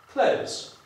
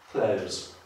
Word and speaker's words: close: I tak jak w tym przypadku, close znaczy blisko, jeżeli powiem z dźwięcznym z, close znaczy zamknąć.